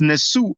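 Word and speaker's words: nesu: come back um so it's actually pronounced nessu on the suit so that was one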